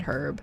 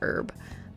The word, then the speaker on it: herb: No, I think from what I understand, like I think Americans all say herb or something like that, which is weird to me. I've always said herb. I know that Americans say herb, but I think the UK and some Canadians we say herb.